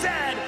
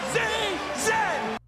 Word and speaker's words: Z: Coach, and it is pronounced Zed, not Z-Z!